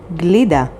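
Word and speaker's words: גלידה: vav yod zain yod hey television next word glida spelled with gimel lamed yod dalid hey and means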